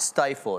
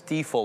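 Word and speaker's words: Stifel: It's not Stifle, it's Stifl or something like that.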